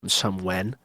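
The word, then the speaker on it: Sumuen: play on somewhere, but it's like life on some when instead of where and it's spelled a little weirdly as well to make it sound like a no which is like instead of some when it's It's spelled s u m u e n.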